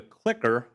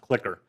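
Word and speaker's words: CliQr: it was CLI QR it's pronounced clicker as far as I know so before the cloud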